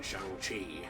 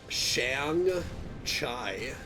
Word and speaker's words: Shang-Chi: I thought it was better than in Shang-Chi. Yeah, me too. Or whatever. Shang-Chi. I hear it pronounced different ways. I pronounce it like Shang-Chai.